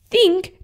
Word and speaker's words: think: Well, that is not how you say think. Think does not have the letter F in it.